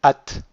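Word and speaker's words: את: Et pour la forme féminine, on va pas du tout le prononcer parce qu'il y a un sheva en dessous du tav. Donc on dira juste at.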